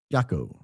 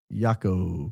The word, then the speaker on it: Jaco: Glenn B has a connection to Jaco Booyens, pronounced Jaco, not Jaco, Costa Rica, pronounced Jaco.